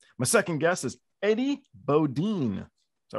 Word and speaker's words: Bodin: Bodin. You got to get it right. Huh? Cajun name. Bodin. Bodin. Pronounced Eddie Bodin.